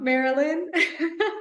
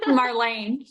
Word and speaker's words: Marlayne: Victoria, the self-love scientist here, and today I am blessed to be in the presence of, I'm going to say it wrong, Marilyn. Marlayne.